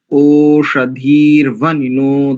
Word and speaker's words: ओषधिर्वनिनो: बढ़िया, देखो ओषधीर नहीं करेंगे, ओषधीर वनिनो। ओषधिर्वनिनो, धीर नहीं, धीर।